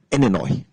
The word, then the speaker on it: Illinois: people yeah yeah okay another example is um Illinois which is near which is near the next